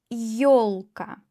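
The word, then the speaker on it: ёлка: For example yolka yolka ye plus o yolka for tree yesli ye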